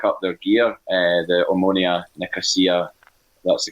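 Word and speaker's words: Omonia: meaning to look up their gear uh the ammonia nicosia that's the correct pronunciation because they've got the chamomile crest they've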